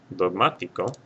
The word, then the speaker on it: dogmático: Dogmático will have a written accent mark over this A because it's the third or more syllable back.